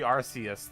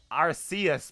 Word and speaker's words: Arceus: also wrong is because they probably intended to be arceus because the japanese name is out of south and the korean name is other sales too it's supposed to be arceus but the reason why they probably changed the arceus is because it sounds like ours as in british ass you know it was